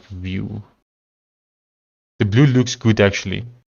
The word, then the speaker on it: Vyl: While here is set like view. Oh, that's interesting. So literally VYL is pronounced view.